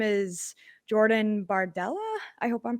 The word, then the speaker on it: Bardella: 27 year old uh his name is Jordan bardella I hope I'm pronouncing that right and is that right Cindy